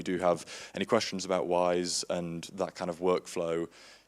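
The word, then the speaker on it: Wwise: piece of software called wise it spelled with two W's like we're wise but the first one's silent for whatever reason and that's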